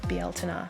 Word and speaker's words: Beltane: an awesome bieltena feel sorry correct pronunciation bieltena as the irish do so with this cheese